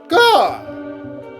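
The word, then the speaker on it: Gau: G. It rhymes with Paul. At least that's how I'm pronouncing it, viewers.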